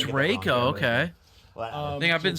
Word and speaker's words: Reiko: excited Rico or Rico Reiko I'm going with Rico it's pronounced Reiko is it Raco yes it is oh it's Reiko okay I think I've been saying like an